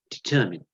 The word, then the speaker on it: determine: know it spent mine I know it's spelled mine but we pronounce it determine to determine when to